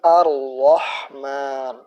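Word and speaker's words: الرحمن: bahas ndak untuk itu cara membacanya dengan diidghamkan atau langsung masuk ke huruf setelah alif lam setelah lam sukun ini Arrohman Jadi bukan di izhar kan karena roh bukan termasuk huruf Alif Lam Qomariah Jadi bukan seperti ini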